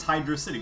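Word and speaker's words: Hydrocity: Reef Zone and then I I know I pronounce it weird but hydrosity oh no it's Hydro City because it's a hydro City yeah I I know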